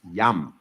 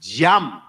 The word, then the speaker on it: jam: It's not pronounced yum. It's pronounced jam.